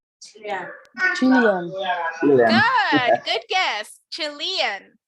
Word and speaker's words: Chilean: Chilean. Chilean. Chilean. Chilean. Chilean. Acuérdense que en inglés yo pronuncio esto Chilean. como I, entonces no voy a decir Chilean, voy a decir Chilean.